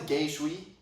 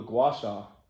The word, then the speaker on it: gua sha: Do you know about the Gay Shui? The Gay Shui. The tool that you can use like this. Is Oh, the gua sha.